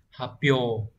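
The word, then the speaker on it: 発表: Hán tự là chữ phát và chữ biểu, sẽ được đọc là hapyo.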